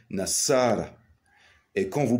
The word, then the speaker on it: Nassara: de le faire car on ne dit pas news on dit n'asara et quand vous prononcez